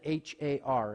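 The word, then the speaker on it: הר: The word for a mountain or a hill in Hebrew, we would pronounce it H-A-R. It would just kind of be like a pirate.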